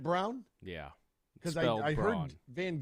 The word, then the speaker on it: Braun: They actually pronounced Brown. Is it Brown?